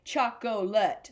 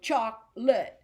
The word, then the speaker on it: chocolate: now some people if if I saw this I would think Chuck Colette I would think of you know three syllables but we're gonna just we're gonna pretend that o isn't there so it's chocolate strawberry so chocolate is gonna have two syllables not chocolate because that